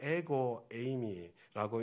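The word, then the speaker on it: ἐγώ εἰμι: 여러분, 이게 에고 에이미라고 읽는 그런 헬라어입니다. 아마 우리 가운데는 에고 에이미 들어보신 분들이 들어 계실 것입니다.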